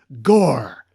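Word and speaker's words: Gorr: Oh, no, I guess it does kind of rhyme with Thor. It rhymes with Thor.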